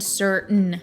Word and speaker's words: certain: Mountain and certain would also include important into this category. These two words are pronounced without the actual T sound, like as if you were trying to say no.